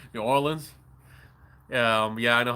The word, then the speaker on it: New Orleans: Some people say it wrong. They They say like New Orleans and you know you cringe. Makes you have a heart attack. No, it ain't it ain't New Orleans. It's New Orleans. That's how you say it, right?